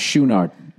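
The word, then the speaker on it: Chouinard: Oh, by the way, his drummer, I guess, is pronounced Schoonard. Bobby Schoonard.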